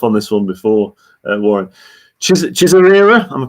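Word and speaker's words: Chizarira: Chisarira, am I pronouncing that correctly? Chisarira, yeah.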